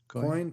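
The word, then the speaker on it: Koine: Now, is it pronounced Cone or Coni? I'm not sure on the pronunciation exactly. I think it might be German. Coin, perhaps. Yeah. Okay. Yeah. That's how the Italians pronounce it. Okay.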